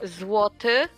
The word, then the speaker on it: złoty: Say one more how you pronounce it? Yeah. Złoty, and it translates to basically gold.